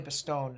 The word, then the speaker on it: Bastogne: But probably Bastogne is how it's pronounced.